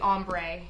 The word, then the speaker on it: Ambre: It's spelled with R-E, so it's actually Ambre.